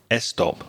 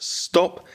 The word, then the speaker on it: stop: Now, if you're a Spanish speaker, you might be very tempted to put a little e sound in front of those two words. So, you might say estop or a street. No, it's just stop and street.